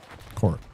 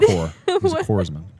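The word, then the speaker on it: corpsman: It's not It's not pronounced corp like uh it's like like the Marine Corps as Marine Corps. Oh, I was like, uh, what? Poresman.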